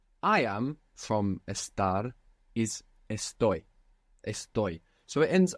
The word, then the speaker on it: estoy: entire Spanish language that doesn't have the accent on the penultimate syllable in the present tense so it's not estto it's EST the accents on the ending this hasn't happened until